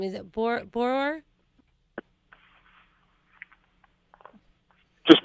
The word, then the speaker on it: Borror: And how do we pronounce last name? Is it Borror? Just Borror, B-O-R. Borror.